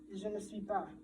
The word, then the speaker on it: je ne suis pas: In French, you have this, which is pronounced je ne suis pas.